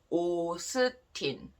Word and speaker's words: 오스틴: But in Korean, we don't call Austin like this. In Korean, you can say 오스틴. Okay, it's like a Korean pronunciation.